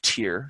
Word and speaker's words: Tyr: come by the way the city's name is tier spelled like the nor God tyr so what brought you